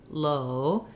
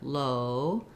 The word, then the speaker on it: low: that when my mouth goes to law from low it's a little more open so if we